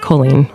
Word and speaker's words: Colleen: Now, Miss Colleen Ballinger, or is it Colleen? My name's pronounced Colleen.